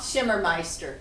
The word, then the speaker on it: Schimmermeister: Loth Schimmermeister. The second M is silent.